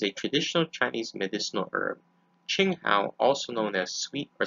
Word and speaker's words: Qing Hao: and precautions other uses and conclusions ching hao pronounced qing hao is a traditional chinese medicinal herb ching hao also known as sweet or celery wormwood latin